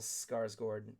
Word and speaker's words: Skarsgård: It's pronounced Bill Skarsgård.